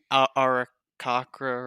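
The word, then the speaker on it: Aarakocra: I am playing Jim, the what am an Arakakra, right? That's how you say it. Yes, I am yes, Jim, the Arakakra, and I am a cleric.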